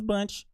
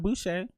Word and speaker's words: Bunch: Also, I pronounced that that was born in 1904 name horribly wrong. It was Bunch, not Boucher, not Bobby Boucher.